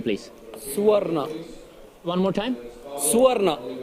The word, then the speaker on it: Suvarna: Suvarna. One more time? Suvarna. Suvarna.